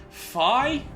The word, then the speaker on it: Fi: Fi, rhyming with Vi, playing the Rise in the mid lane.